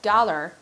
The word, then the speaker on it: Galar: In Sword and Shield, the region was called Galar, which is spelled the exact same way as the word Galar, which is the Irish word for disease.